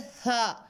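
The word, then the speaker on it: ث: उसके बाद है था, था बहुत लाइट लेटर है, ये वाली इसमें साउंड नहीं आनी चाहिए, विसल साउंड नहीं आनी चाहिए,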